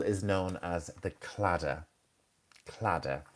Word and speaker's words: claddagh: Claddagh. And very strange Irish spelling. Claddagh.